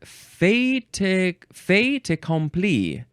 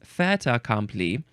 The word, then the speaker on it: fait accompli: I think they emphasize the com. Fait accompli instead of fait accompli.